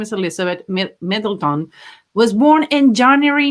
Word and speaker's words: Middleton: like sounds more phonetic middle middle tone and no it's middleton mid laton anyway they're going